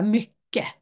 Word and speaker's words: mycket: Men ofta så uttalar man inte t, så man säger bara mycket.